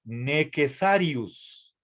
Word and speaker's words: necessarius: Y en el latín clásico esto se lee necessarius. ¿Sí? Con doble S. No es un error, así se escribe en latín necessarius.